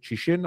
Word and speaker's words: Cixin: The novel, The Three-Body Problem, by Liu Cixin, I don't know how to pronounce that, C-I-X-I-N, Cixin.